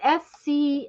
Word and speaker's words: Schmetz: But I Schmitz. Schmetz, it's Schmetz, I think is how Okay.